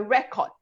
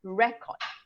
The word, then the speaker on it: record: This is the record, right? So noun, you will stress on the first syllable, record, right? But if it's a verb, you will stress on the second syllable, so record.